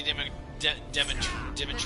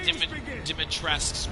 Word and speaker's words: Dimitrescu: trailer of Lady Dimitrescu. Let's see how special I guess is you her are. name now, because apparently the U is silent.